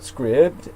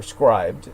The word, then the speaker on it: Scribd: The portable documents formatted file should be available at Scribd, or Scribed, would probably be the correct pronunciation.